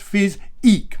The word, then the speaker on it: Physique: saddles, and that is Physique. Okay, so it's phys-eek. Make sure you put the emphasis on that second syllable, that eek, eek a mouse, for example.